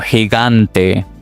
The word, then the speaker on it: gigante: For example, gente o gigante, gigante.